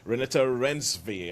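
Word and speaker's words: Renate Reinsve: has Chiwetel Ejiofor in it, and he has Renata Rensve, I think it's the way you pronounce the name, from The Worst Person in the World.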